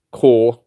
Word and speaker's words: Battle Corps: Core, but it's got a P on the end. Battle Corps. That's how you spell it. That's not how you pronounce it, though.